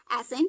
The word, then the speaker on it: ascent: अब देखिए आपका सी साइलेंट है तो एस से क्या बन गया? सा, और ई से ए की मात्रा, और एन से ये अंक की बिंदी, और टी से टा हो गया एसेंट। ठीक है। और यहाँ का क्या है? सी साइलेंट है, इसलिए इसको हम क्या पढ़ रहे हैं?